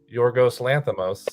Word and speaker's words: Yorgos Lanthimos: I also agree with him wanting to highlight Yorgos Lanthimos, I believe is how you pronounce it.